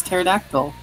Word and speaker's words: pterodactyl: sometimes like the words pterodactyl which is not pronounced how it's spelled because it has a P in the beginning and you do not pronounce that P this is what it